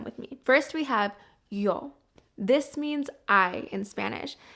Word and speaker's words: yo: is pronounced o y make sure that that o that vowel is very short and sweet here's an example I